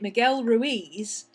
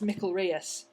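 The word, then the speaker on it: Miquel Rius: can't find it because you're you're pronouncing it Miguel Ruiz and that's the Mexican version I believe it's Spanish so it's Mel Rus it's confusing I know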